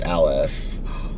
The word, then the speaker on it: Elise: And then someone said, my name is Elise, but it's pronounced Alice.